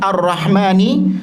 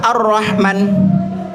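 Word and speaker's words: الرحمن: Tapi bacanya apakah Ar-Rahman atau Ar-Rahman? Ya, panjang. Jadi dipanjangkan.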